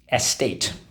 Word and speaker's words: estate: um so let's go s tate estate s tate okay first syllable s second syllable tate s state all right so we have two things to mark up let's go underline the a and the silent e twice draw an arrow back why because in this case the silent e makes the a say a okay some antonyms possibly